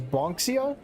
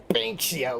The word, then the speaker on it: Banksio: Bonxia? Kay chuckles at my mispronunciation. Banksio, like Banks. Oy vey.